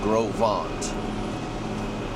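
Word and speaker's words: Gros Ventre: Shout out to uh Groveant River Ranch. It's spelled like gross venture.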